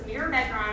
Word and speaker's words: mirabegron: So that's what I used for the pronunciation on some of these, including this one. So this is Mirmegron or Mirmetric.